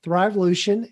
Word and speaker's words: Thrivolution: before we started recording i always want to put an extra syllable in it but thrivolution and colleen's going to